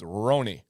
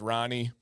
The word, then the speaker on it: Roni: And so but his name is, the way you say it authentically, is Roni.